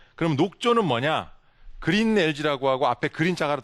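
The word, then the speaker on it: algae: 그래서 우리말로 하면 영어로 하면 저렇게 쓰고 발음은 LG라고 읽습니다.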